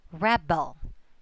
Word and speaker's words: rebel: how can I say, when the word, or if that word is noun, it will be accented on the prefix. Rebel, rebel. Okay? While if it's verb, it will have the accent on the stem.